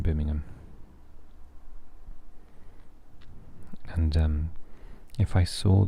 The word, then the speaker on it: Birmingham: and you do not like birmingham when an american says birmingham they say birmingham so um yeah we say birmingham there's definitely no ham in birmingham and um if i